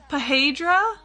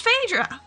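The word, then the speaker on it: Phaedra: Fedora and Pahedra. Pahedra. They read that as Pahedra. What? That's But no, but but what ph is a f spelled phonetically? What do you pedra? It's fedra. It's clearly Fedra.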